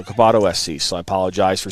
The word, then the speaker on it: Coboto: said it wrong but kabado not cabata cabato so cabato SC so I apologize